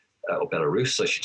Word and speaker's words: Belarus: saw a lot of investment in football in belarus or belarus i should say pronounce that properly nicaragua and turkmenistan now obviously